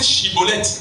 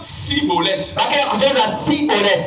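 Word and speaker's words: Schibboleth: Ils n'arrivent pas à prononcer chibolette mais ils disent cibolette.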